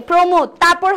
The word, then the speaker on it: প্রমোদতরী: দেখেন যেহেতু প একটা রফল আছে এজন্য রফলার জন্য এটার উচ্চারণ হবে হচ্ছে কি বলেন তো? সংবৃত। সংবৃত মানে কি? ও এর মত উচ্চারণ হবে। তো প্রো এরপরে মোদ প্রমোদ প্রমোদ ওকে প্রমোদ তারপরে হচ্ছে তরি তো প্রমোদের পরে তরি যেহেতু পরেও একটা র আছে এর জন্য এটাকে প্রথমেই আরেকটা সংবৃত উচ্চারণ হবে প্রমোদ তরী প্রমোদতরী আমরা একটাই পাইলাম সঠিক উচ্চারণ